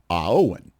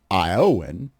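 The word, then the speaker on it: Éowyn: But the pronunciation for the second part is Aowen, because it's Gaelic, I guess.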